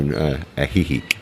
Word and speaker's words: Ajijic: I'm glad you pronounced that because I could never. Ahihik.